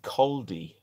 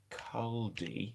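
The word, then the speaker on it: Caldey: Do you don't mean Caldi?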